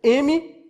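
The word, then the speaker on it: Memra: Não é amar de mar, não. É mar, uma pronúncia hebraica. Transliterado se escreve M-E-M-R-A. Quer dizer, M-Merá.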